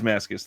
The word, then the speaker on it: Mascis: I totally forgot how to say it, but it is Mascis.